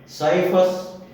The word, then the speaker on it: scyphus: जैसे साइफस, SCYPHUS, SCY बना, लेकिन बोला गया साइफस।